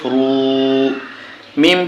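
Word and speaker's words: الروم: ওয়ে জেমে এক caliph রু মিম পেশ মু রু মু যখন আমরা এখানে ওয়াকফু করবো বা থেমে যাবে তখন উচ্চারণ হবে রুম গুলিবাতির রুম গুলিবাতির রুম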